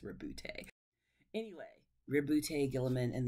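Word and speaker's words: Roboute: was like oh because I kept saying robot it's not robot it's it's rebute anyway rib lute Gilman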